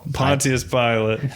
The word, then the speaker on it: Pontius Pilate: Pontius Pilate.